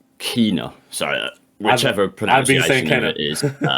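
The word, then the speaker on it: Kena: oh yeah or because i thought it was kenner but when i was playing it she pronounces it kina sorry that whichever pronoun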